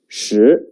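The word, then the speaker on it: 十: look at the picture it means ten the pronunciation is shi please write it with me the writing order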